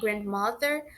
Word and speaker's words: grandmother: forte de uma região pronunciar sem aquela pausa na letra D, grandmother ou grandfather, eliminar completamente essa letra D.